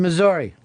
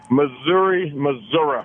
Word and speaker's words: Missouri: or they pronounce it Arkansas, or I should pronounce it Arkansas. Yeah, thanks. Shane in Missouri. Hey guys, how you doing? $1,000,000, Fez. Missouri. There's this battle been going on forever. Can't stand it. It's Missouri.